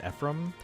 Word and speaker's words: Ephraim: yeah well the uh the I guess the American pronunciation is Ephraim uh I don't know